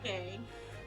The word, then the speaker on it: Ryunosuke: It's fine if you can't pronounce it. Ryunosuke.